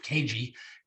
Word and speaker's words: Kajy: We've got a special guest by the man by the name of Joseph Kajy. And did I pronounce that right?